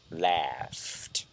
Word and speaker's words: laughed: The G and the H is pronounced here like an F, laughed.